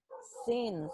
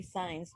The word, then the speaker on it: since: Since. Okay, so people confuse that word. The pronunciation. They say science, but it's not science. It's since.